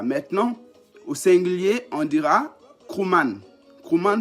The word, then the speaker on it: Krouman: Maintenant, au singulier, on dira Krouman. Krouman s'écrit K-R-O-U-M-A-N.